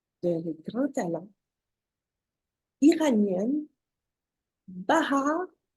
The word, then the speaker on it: Bahar: de grand talents iranienne bah har est-ce que je le prononce bien B oui oui c'est correct merci correct ok alors parlenous